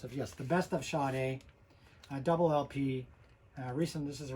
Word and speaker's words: Sade: People, you know, certainly younger people see her name as Sade, S-A-D-E, but it's actually pronounced Sade.